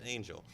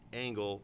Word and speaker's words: Angell: I was like, oh, do they pronounce it that way? And they're like, yeah, okay, so it's Angel. However, like our family has pronounced it Angle most of my life.